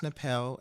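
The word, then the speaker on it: Tnahpele: um okay so um my artist's name is napel it's pronounced napel it has a a interesting spelling it is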